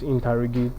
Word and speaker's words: interrogate: second syllable as well so the word given to us interrogate is a verb and we said the rule governing this is that the second syllable is stressed so in option b